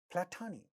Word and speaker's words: platonic: So, platonic, we know that this syllable is stressed, but it so happens that this has a ta sound in the initial position of this stressed syllable. Therefore, it is getting aspirated.